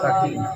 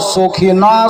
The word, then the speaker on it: সাকিনা: নাম ছিল সাকিব কি নাম বললাম সাকিনা জোরে বলেন সাকিনা নাম হলো সাকিনা তার মানে দন্তে আকার